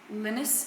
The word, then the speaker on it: Linus: That is a Linus bike, I think that's how you pronounce it, Linus, Linus bike.